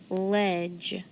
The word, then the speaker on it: ledge: connect it there ledge ledge trigraph d g e very good silent d silent e and then that g that makes the j sound my e has to be short because it's in front of that dge so where's a ledge